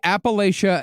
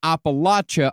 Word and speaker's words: Appalachia: And by the way, and by the way, Appalachia and Appalachia are both accepted pronunciations. Usually, if you're more northern, you'll say Appalachia.